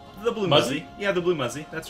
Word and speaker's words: TheBlueMuzzy: you say your name the blue muzy yeah the blue muzy that's right blue muzy okay the blue Muzzy